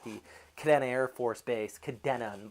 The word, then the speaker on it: Kadena: Kadena Air Force Base Kadena by the way not Kadena look at the way it's spelled there's no eyes no I in it it's not spelled CA di na um we are seeing